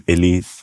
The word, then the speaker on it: Élie: my mum said, Élie, that's how you pronounce my name, Élie, accent on the E.